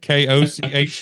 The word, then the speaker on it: Koch: B-U-C-H for you and K-O-C-H for me. I joke sometimes with the listeners that my family was good enough Germans to keep the spelling, but not the pronunciation. So we still go with.